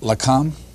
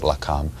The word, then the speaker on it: Lakam: I know I'm not going to pronounce this right. Lakam? Yes, that's right. Yes. That's the Science Liaison Bureau, or the Israelis called it Lakam, which protected the nuclear secrets.